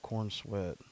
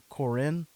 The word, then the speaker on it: Corenswet: What do we know about Corn Sweat? I hope I'm saying that wrong. I think that's how it's spelled. It's spelled Corenswet. Corenswet.